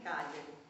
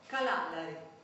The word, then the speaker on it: Cagliari: Non pronunciavo bene neanche Cagliari. Dicevo Calalari, sì, proprio così, Calalari.